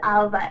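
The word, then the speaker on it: Ailbhe: tricky ones for people who aren't Irish and Alva in particular because of the spelling yeah true actually I actually came across Alva on Twitter and she actually has in her bio pronounced Alva a LV so I'm sure she gets a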